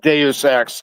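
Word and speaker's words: Deus Ex: It's actually pronounced Deus X just like Deus fault.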